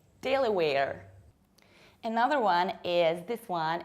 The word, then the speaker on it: Delaware: Delaware, two very front A, Delaware.